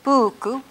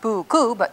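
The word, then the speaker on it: puuku: stress in Comanche words the typical pattern is that you stress or accent the first syllable of the word so that worked for horse that I just erased was buku not buku buku that's the normal pattern blue was a video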